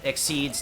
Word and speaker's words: Xyz: they'll go into um exceeds next xyz is pronounced exceed by the way i i don't know why they spelled it like that it's so obnoxious